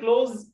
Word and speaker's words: close: افتح شنطتك انت يور بتاعتك انت close كلمة close long O O والاس جاي من two vowels ومنطقها Z close close يعني اقفل close the